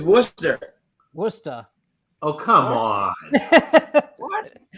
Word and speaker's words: Worcester: uh Worchester close yeah you guys are throwing an H in there I don't see yeah well I was pronouncing it that way uh Washington I think I have it better the first time what is it Sean it is Worcester Worcester oh come on